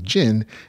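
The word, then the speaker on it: Djinn: i just forgot that the d is supposed to be silent just supposed to be jin and i had a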